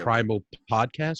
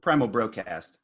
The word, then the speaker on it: PRIMALBROCAST: The Primal podcast, right? Is that how you say it? PRIMALBROCAST. Oh, the PRIMALBROCAST.